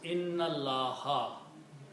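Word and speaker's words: إن الله: And you have to read these together. So you do not pronounce this alif. So it becomes inna Allah. Inna Allah ala kulli shay'in qadir. Okay? Inna Allah. Separately it is inna and Allahu. But together they become inna Allah.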